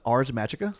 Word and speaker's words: Ars Magica: So next we have, I think it's pronounced Ars Magica.